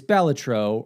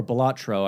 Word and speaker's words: Balatro: right before this is Balatro, or Balatro, I think is the correct pronunciation, but Northern Lion calls it Balatro, so I'm going that way.